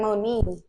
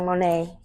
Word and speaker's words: Monee: my mother's middle name but she pronounced it like mon but I don't I don't know why she do that I don't like that so I just pronounced it like Monae and yeah Z mon